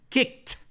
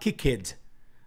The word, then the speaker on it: kicked: this isn't this interesting pay attention to the pronunciation kicked okay kicked him out kicked him out not kick it not kick kids him out kicked him out